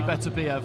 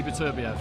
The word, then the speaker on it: Beterbiev: Doing the international amateur stuff, you get told that for Eastern European fighters, Russian fighters, the stress goes on the penultimate syllable, so it would be Beterbiev. But as English speakers, we look at that and say Beterbiev.